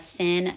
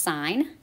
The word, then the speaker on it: sin: the button and so they cut off the E so that's actually pronounced sign sign is going to